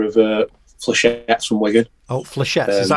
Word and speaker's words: Flechettes: Oh, Flechettes.